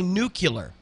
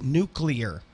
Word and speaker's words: nuclear: or if you say nuclear I will so so nucle yes I'm like no it's nuclear nuclear yes like as in the nucleus you it's not the